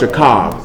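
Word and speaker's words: שָׁכַב: The last letter is a B, or a V sound, actually.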